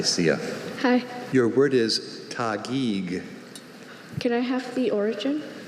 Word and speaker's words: Taguig: Are there any alternate pronunciations? Only Taguig. Could you say it? Taguig.